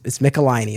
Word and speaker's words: Michelinie: I looked up a YouTube video where he said his name because I wanted to make sure I had the pronunciation correct. So it's Michelinie as far as I understand it.